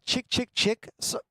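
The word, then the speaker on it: Chk Chk Chk: And the person at the store was like, they pronounce it chick, chick, chick.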